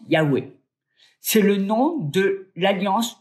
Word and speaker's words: YHWH: Dans les manuscrits originaux, on voit les lettres YHWH qu'on prononce Yahweh.